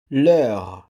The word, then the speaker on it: leur: Let's continue with the possessive adjective there, which is said in French, in the singular plural, Leur, and in the plural. leur, Yes, both are pronounced the same.